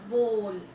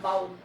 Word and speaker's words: bowl: Okay, so next one is your बोल. This is pronounced as बोल, नॉट बाउल, बोल.